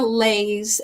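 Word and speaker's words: Leis: full playlist is Banya lays l e i s lays like you know Hawaiian Lays you wear around your neck is kind of how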